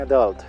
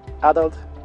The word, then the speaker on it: adult: Puedes decir adult o adult. A veces, algunos la pronuncian esta palabra con el acento en la primera sílaba y otros la pronuncian con el acento en la segunda.